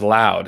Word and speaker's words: Louth: Louth is pronounced loud. It's the smallest part of Ireland.